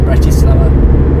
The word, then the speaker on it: Bratislava: I had to go across Bratislava, which is like the capital, Bratislava, it's pronounced, which was kind of, I couldn't record